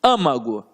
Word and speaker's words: âmago: Âmago, olha como é que eu falo, âmago. Se eu falo âmago, é porque está na antepenúltima sílaba, aqui no A.